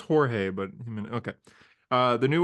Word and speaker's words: Jorge: years man I know is it is it pronounced himz yeah yeah man okay it's Jorge I know I know it's Jorge but okay uh the new arc is going